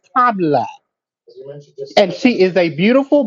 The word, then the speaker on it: Kamala: Her name is not Kamala, and you know that. Her name is Kamala.